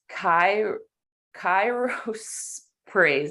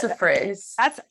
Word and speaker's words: chrysoprase: say it wrong, but it's Kairos praise. I can't say it. Oh, chrysoprase. Yes, that's how I said chrysoprase. That's how I've always said it, but there's no ph at the end, so I don't know.